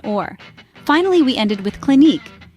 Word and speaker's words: Clinique: finally we ended with Clinique it's not click or clinic the proper way to say it is Clinique with an emphasis on the second syllable and there you go